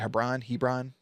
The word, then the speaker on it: Hebron: I think that's how you say it, Hebron. Not like LeBron, but I think it's Hebron.